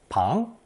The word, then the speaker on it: 庞: Anyway, this new character is pronounced second tone pang.